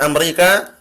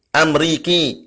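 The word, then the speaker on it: أمريكي: artian dia orang Amerika bacanya bukan Amerika Tapi amriki anak amriki itu adanya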